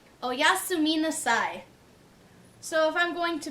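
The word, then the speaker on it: おやすみなさい: So if we're breaking this one up, it would be o-ya-su. So it's kind of doesn't matter breaking up syllables. You could try to think of words that sound similar, but I always think it's easier to just break it up syllable by syllable. So it's o-ya-su-mi nasai. So as a whole, oyasumi nasai, which is good night.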